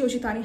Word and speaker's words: Yoshitani: it doesn't signif she hasn't you know yoshi ashitani has not chosen this card specifically for its